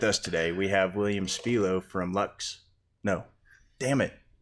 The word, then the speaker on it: Spilo: That's actually Spilo.